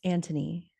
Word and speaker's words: Anthony: So the mother, Violet, is left managing the kids, but then the oldest son, Anthony, and oh, it's pronounced Anthony.